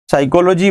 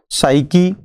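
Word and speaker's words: psyche: जिसका पहला वर्ड था साइकी, जिसको हम लोग दो प्रोनाउंसिएशन के नाम से जानते हैं, या तो साइकी कहें या फिर साइके कहें।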